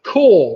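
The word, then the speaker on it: crore: So it's the core, which is 10 million. And of course, core rhymes with number 4.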